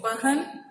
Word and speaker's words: बहन: ठीक है, बार बार व और ब का उच्चारण करने से आपको उच्चारण के समझ में आ जाएगा। ठीक है, जैसे देखो बहन और वहन, वहन अलग चीज है और बहन अलग है।